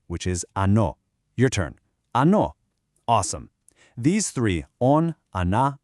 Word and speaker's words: оно: Ano. Awesome. These three on, ana, ano, they're our foundation. So, how do we know which is which? How can you tell if a noun is masculine, feminine, or neuter?